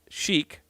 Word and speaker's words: Chic: An artist you guys definitely want to check out is Chic, pronounced chic.